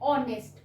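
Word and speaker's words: honest: नहीं रहा, मतलब एच, स्पेलिंग में एच है, बट जब हम प्रोनाउंसिएट कर रहे हैं तो प्रोनाउंसिएट करते हुए ये एच नहीं है, और इसकी स्टार्टिंग हम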